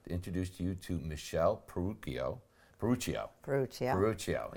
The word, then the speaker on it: Peruccio: Peruccio, yeah. Sometimes in Italian you say, the hard C or whatever. So it's Michelle Peruccio.